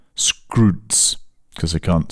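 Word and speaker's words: Skroutz: There's there's an online retailer in Greece which is basically the Greek Amazon which everyone uses called Scrooge although it's pronounced Scroos because they can't say they can't pronounce Scrooge properly.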